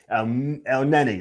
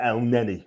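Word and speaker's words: Elneny: El Neni, that's it. El Neni, right?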